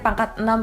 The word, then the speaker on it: Pangkatenam: Jadi dibacanya pangkat 6 ya. Ada yang pangk6 atau apa pokoknya pangkat 6 sebenarnya bacanya.